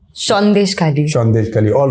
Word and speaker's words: Sandeshkhali: Khali as a reporter did I pronounce that right yes shes Khali shes Khali all right